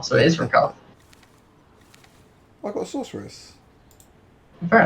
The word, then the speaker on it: Rakarth: You pronounce it Rakarth. Okay. Oh, there is an R in his name. Wow, I clearly. Okay, I was trying to go with calling him Rakarth rather than Rakath, but there is an